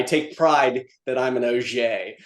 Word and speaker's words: Auger: and and let pe people call him Brian Augger But I always give him a hard time because uh I I take pride that I'm an OA.